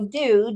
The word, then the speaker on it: do: Okay, so do, D-O, I would say not yet decodable. Or, well, no, partially. Because you can decode the D, but oo is spelled O-O most of the time.